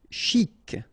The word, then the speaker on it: chic: Chic. Okay, you pronounce the final C and then CH together. Sh. Chic.